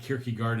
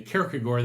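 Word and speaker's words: Kierkegaard: and Socrates so notice it's not kiry gard and Socrates okay I'm giving you the kagor that's the Danish pronunciation I learned it from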